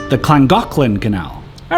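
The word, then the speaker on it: Llangollen: didn't touch the wall so this is The langin Canal at least that's how I read it but I learned the Welsh pronounced the double L's as CLA so it's actually pronounced the clangin canal all right this part seems simple enough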